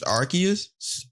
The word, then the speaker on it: Arceus: But Pokemon Legends Arceus, I said it right so we won't get killed in the comment section.